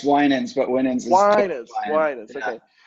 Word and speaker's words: Winans: kindness and today I have with me Kol winnings I should have asked him how to pronounce his last name before we started recording